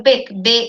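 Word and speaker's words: bake: মানে ঠিক ব্যাকটাও না, আবার এই যে বিগটাও না, মানে এটার মাঝামাঝি একটা উচ্চারণ, যেটা মানে আমরা ঠিক এটা উচ্চারণটা ঠিক ওইভাবে বাঙালিরা হিসেবে অমনিভাবে পারি না।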